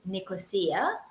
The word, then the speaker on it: Nicosia: it's very multinational culture the capital is Nicosia or the traditional Greek uh pronunciation would be left cosia it's part of the